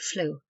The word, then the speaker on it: fluke: hold the ship semen by custom drop the K and pronounce the word flu flummery a dish made